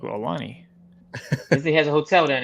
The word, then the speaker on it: Aulani: Ian Bender says, curious, I'm going to, I guess I pronounced it Ulani next year. Aulani.